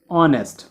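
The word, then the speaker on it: honest: अब यहाँ पे देखो एच क्या होता है, साइलेंट होता है, तो साउंड किसकी आती है, ऑनेस्ट, ओ। सो ओ की साउंड आती है, ओ क्या है, वोवल साउंड है। सो एन ऑनेस्ट मैन।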